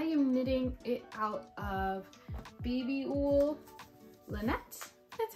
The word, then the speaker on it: Babyull Lanett: I am knitting it out of Babyull Lanett. That's how you pronounce it.